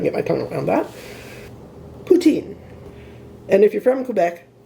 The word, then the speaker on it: poutine: Most of the people I know pronounce it poutine, so I'm sticking with that.